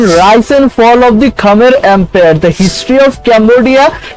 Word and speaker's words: Khmer: The Khmer, correctly pronounced Khmer, or Khmer in English, are an ancient people whose culture became heavily Indianized in the region's prehistory.